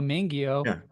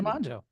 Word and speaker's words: mangio: Um, when I when I see the word mangjo and my brain just wants to say Joe instead of how, you know, in English, how would we even pronounce that? M- an io mangio. It's just so fun to like see mangjo. And I just know to say mjo.